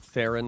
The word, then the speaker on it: Theron: gal gadot like oatmeal and then charlize theron like karen okay i love it